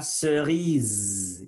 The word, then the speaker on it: cerise: La cerise. Il faut faire vibrer. Zzz. La cerise.